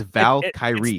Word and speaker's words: Valkyrie: how to do it it's just Val Kyrie the Val Kye yeah Zena was saying it's the Val Kyrie Irvings or someone said it exactly what it is that's exactly her pronounce yeah and you could